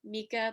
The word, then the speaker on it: Mika: I believe you pronounce it Micah, might also be Mika, but Mika is the spelling.